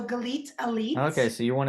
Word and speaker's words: Galit: nate my name is the best to remember that it rhymes with the word elite so galit ali okay so you're